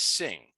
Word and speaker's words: Singh: name of the author reading the native script we would pronounce this as Singh yet the romanized text is written simha since Singh is a